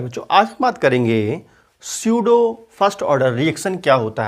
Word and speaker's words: pseudo: Hello प्यारे बच्चों, आज हम बात करेंगे स्यूडो फर्स्ट ऑर्डर रिएक्शन क्या होता है। स्यूडो first order reaction, P लिखा है लेकिन पी साइलेंट रहता है, स्यूडो ही पढ़ते हैं उसको, ठीक है।